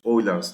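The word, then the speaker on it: Euler: Now natural logarithms before we go here let's meet Oiler's number. Oiler's number it's pronounced Oiler because Germans is approximately 2.71828.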